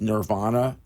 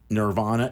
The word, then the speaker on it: Nirvana: Experience Nirvana. Nirvana is spelled Nervana, not So with it's an I. nerve. It's not the band. Correct. So think nerve. Exactly. Think nerve. Not Kurt Cobain.